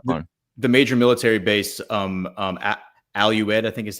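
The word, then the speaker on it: Al Udeid: The major military base, Al-Ued, I think is how you say it.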